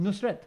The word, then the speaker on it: Nusret: It's just Nusret. Nusret. Nusret, like as in Fateh Ali Khan.